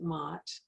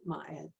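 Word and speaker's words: Ma'at: north we call on might m a apostrophe a t and some pronounce it mat some pronounce it maya but it's it's my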